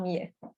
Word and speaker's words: Millet: Another inspiration is Millet, Jean-François Millet. if we like to pronounce it like a French.